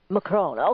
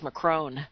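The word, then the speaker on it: Macron: you listen to him they pronounce his name with the N and even you know everybody else tase McCrone but the I usually when you hear real frenchie person say they don't pronounce the N a cruel oh so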